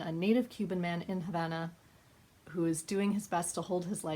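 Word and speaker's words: La Habana: for me to pronounce as a Spanish teacher I want to pronounce it La Bana but that in amongst all the English also sounds weird so we're gonna go with Havana right now but this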